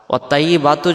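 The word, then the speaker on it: وَالطَّيِّبَاتُ: এখন যদি আমরা বলি ওয়াত-তাইয়্যি, ওয়াত-তাইয়্যি, এই ত অক্ষরটা তখন তাইয়ের উচ্চারণ আসতেছে, তাহলে এটা অক্ষর আলাদা, এটা অক্ষর আলাদা। ওয়াত-তাইয়্যিবাতু যখন আমরা পড়ব তখন পবিত্রতা এর অর্থ আসবে না।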